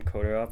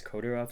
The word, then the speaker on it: Kodirov: Yes, so my name is Kodarov. That is spelled AI M. And then my last name is Kodorov.